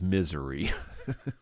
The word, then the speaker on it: Missouri: And we do pronounce it as misery.